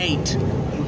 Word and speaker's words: ait: corporation Island it's an eight you spell AIT islands in the River Thames are called eights pronounced just like the number eight or it could be